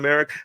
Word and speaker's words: Elic: I'm saying Eric look I know it's spelled elic I've watched enough Stanford football to know that every announcer I've ever heard call their games is calling americ I don't know if that's wrong I will correct course